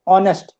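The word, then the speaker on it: honest: ऑनेस्ट। ऑनेस्ट नहीं पढ़ते हम इसको। एक साइलेंट है यहां पे।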